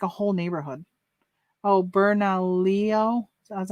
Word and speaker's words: Bernalillo: yeah they're in like a whole neighborhood oh bernalillo is how you say it yeah oh gosh